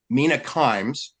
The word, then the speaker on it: Mina Kimes: Force pilot and married a Korean woman, produced Mina Kimes. That's how it's pronounced.